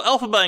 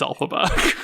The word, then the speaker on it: Elphaba: Even in, canonical Oz fandom, we've almost sort of decided, yeah, her name is Elphaba. Which is interesting because it's really just like someone phonetically pronouncing LFB, L. Frank Baum.